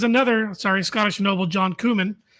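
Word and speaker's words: Comyn: sorry Scottish Noble John kumman also known as red kumman think of the spice kumman that's how you pronounce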